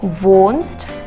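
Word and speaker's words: wohnst: where do you live vo that always age is written like a long o vo vonst do where do you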